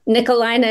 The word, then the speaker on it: Nikolijne: But Nikolijne is Nikolijne with a silent J.